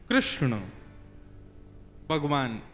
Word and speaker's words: कृष्ण: कोई कृष्णा बोलता है भगवान का नाम शुद्ध उच्चारण करो नाम क्या है कृष्ण भगवान जय श्री कृष्ण कृष्ण शब्द का अर्थ क्या